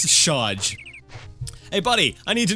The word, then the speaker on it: Shaj: Is it Saj? I think I mispronounced it so much now I don't even know what it is. Shaj. I was right, it was Shaj.